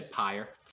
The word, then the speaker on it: PYR: I say pyre, just fire with a P. I think this is an American thing, right? I think the Americans are saying it's pyre.